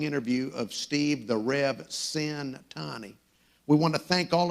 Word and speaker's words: Centanni: is steve the rev cintani if you're wondering how to pronounce his last name the first syllable rhymes with the word sin and also in addition